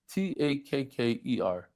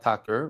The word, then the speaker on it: takke: Takker. It's takke, not tacker, but okay.